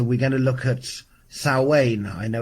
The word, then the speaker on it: Samhain: year and so we're going to look at salwain i know it's spelt samhain but it's pronounced our wayne depending on where you're from hello caroline and this whole journey with sal wayne this whole journey with the imminence of the